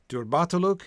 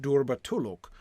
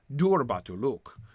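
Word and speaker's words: durbatulûk: i could go with derbatoluk and i could go with durbatulluk but i could not go with durba to look nor could i go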